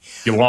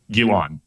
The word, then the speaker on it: Ghislaine: Anyway, Gilan, I think is the way she's pronounced it. How How are we saying it? Gilan like pronounced like G I L A N.